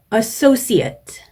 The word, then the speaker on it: associate: associate, ate로 끝나는 단어들인데 형용사나 명사일 경우에는 마지막 발음을 at 이런 식으로 동사인 경우에는 마지막 발음을 ate 이렇게 해주시면 되겠습니다. 네, 오늘 시험은 명사로 출제가 되었습니다.